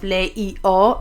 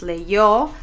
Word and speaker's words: leyó: Instead of leío, es leyó, and instead of leyeron, es leyeron.